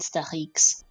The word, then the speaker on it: Stachix: Star X is how to spell it, and X is how you pronounce the X in French. So, and also speaking of things, GG's to Mashi's finishing 5th, 2:32:48.